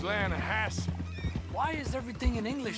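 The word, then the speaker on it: Lannahechee: the other day I rolled down to the Lana Hetchy river I caught some beautiful steelhead trout you mean the Lana no Lana hatch it runs right near here yeah but it's pronounced Lana Hass why is everything in English said differently than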